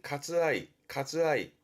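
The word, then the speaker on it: 割愛: 그 할애한다라는 게 발음은 가츠아이.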